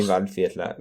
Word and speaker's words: Waldviertler: Waldviertler. Waldviertler. Waldviertler. Well, you still have a V sound in there, even though it's a W. So Yeah, in German it'd be Waldviertler, because it's from Waldviertel.